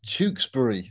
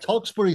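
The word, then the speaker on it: Tewkesbury: just a minor point it's tewksbury it's and that's just that's just a weird english pronunciation topic he's famous for this mispronunciation it's kind of his thing yeah talksbury sounds cool i never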